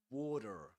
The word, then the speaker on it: water: In water, we say this is a flap T, which means that it's pronounced just similar to a D sound. Water, water, water, water.